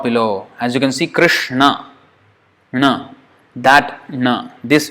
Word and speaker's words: Krishna: no no no this no when we say Krishna this is the know that we are pronouncing this all or supposed to crowns it's